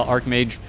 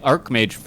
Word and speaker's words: Archmage: I see her arced it's pronounced like arc in archetype I've heard archetype like arc as in like art or archetype an Archmage anyways it might be